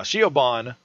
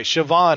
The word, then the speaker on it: Siobhan: yeah but she she also got uh uh shoban fired sioban sioban is it Coban who what sioban it's phonetically it's fin sh okay Siobhan is fired so w is now out of